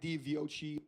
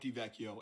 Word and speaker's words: DiVecchio: Mike DiViochi. Hey, this is Editor screaming at YouTube on why the hell I pronounce his name like that. It's Mike DiVecchio, and you should learn